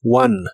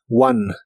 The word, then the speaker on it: one: participio de inglés es One y significa ganado la o se pronuncia como a Así que es one one el verbo comprar